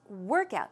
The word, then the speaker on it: workout: So the stress goes where? On the first syllable.